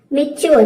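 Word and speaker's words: mature: मेच्योर।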